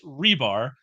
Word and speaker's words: Hribar: it I'm going to say it correctly rebar how you doing my friend yeah we're doing